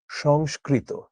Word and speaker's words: সংস্কৃত: এটার উচ্চারণ হচ্ছে সংস্কৃত। তেমনি আমরা যখন বলি না সাংস্কৃতিক অনুষ্ঠান বা কালচারাল অনুষ্ঠান সেটাও হচ্ছে এরকম।